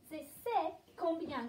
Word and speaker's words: C'est combien: How do we pronounce this one? Have a look. C'est combien? Oui, bon effort. C'est combien?